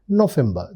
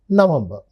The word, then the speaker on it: November: October their November remember the V is generally pronounced as f that's why their November that is November and their December that is December.